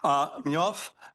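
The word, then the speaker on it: Mnëv: And thanks to a paper of Cataneo, how do I pronounce this? Minev? Mignov? Mignov? Do we all agree? Thank you. Thank you, Roman. Mignov and Reshetikhin.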